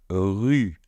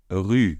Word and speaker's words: rue: Après, on a donc le R avec le U. Je sais, c'est très difficile. Ces deux lettres sont difficiles à prononcer. Donc, ensemble, c'est encore plus difficile. Donc, on y va. Rue. Rue. Je vous rappelle que le R se fait ici. Le U est un petit peu comme si on voulait faire un